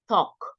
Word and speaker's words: talk: we should not talk we don't pronounce the L here talk and we should not